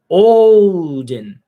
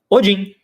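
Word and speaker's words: Óðinn: da língua nórdica antiga, a língua fica entre os dentes. Odin. Ao contrário da pronúncia que a maior parte das pessoas conhecem como Odin.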